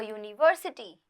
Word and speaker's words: university: For example, a university pronounced like univers. It's a year sound and not a U sound. The noun starts with a consonant sound despite the vowel letter U.